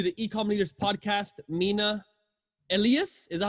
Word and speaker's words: Elias: so welcome to the ecom leaders podcast mina elias is that how you say it yeah elias elliott elias okay perfect awesome and then i